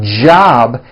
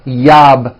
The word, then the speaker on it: job: never so for example the word job has a J at the beginning job it's never yab my yab it's always my job with a strong J sound job my job like that okay let's do some